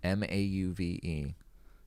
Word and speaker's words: mauve: M-A-U-V-E. M-A-U-V-E. I pronounce that mauve. Mauve? Mauve. It's like, tomato.